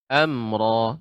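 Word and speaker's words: أمرا: Amro, tidak terlalu lama pengucapan amro, dengan sampai agak lama.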